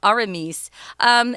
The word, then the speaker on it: Aramis: He offends 3 different musketeers, Athos, Porthos, and Aramis. This Athos, Porthos, and Aramis is actually how you say it in French, but we're just going to go with more of an English pronunciation for these guys' names.